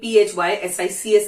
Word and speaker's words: physics: Psychology, psychology मैंने नहीं बोला, सो it's psychology, psychiatry, physics, even PHYSICS is also doesn't pronounce P6, it's physics.